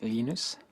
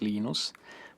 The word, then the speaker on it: Linus: Um, when I speak Swedish, it's Linus. When I speak Finnish, it's Linus. When I speak English, it's Lionus. And I really don't care how people pronounce my name, but Linux is always Linux.